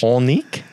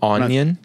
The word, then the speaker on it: Onnink: say your last name did you just say like it was French onique uh no it's an oh technically it's like you pronounce it like onion it's the same vowel onic onic onic yeah like